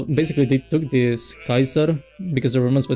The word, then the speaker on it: Kaiser: But the thing is that you pronounce the C as like a K and then you have like the A E you pronounce it as like Kai.